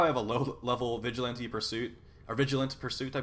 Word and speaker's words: Vigilante: So see how I have a low-level Vigilante Pursuit, or Vigilant Pursuit, I believe that's... Vigilante, yeah, Vigilante is the way you pronounce that.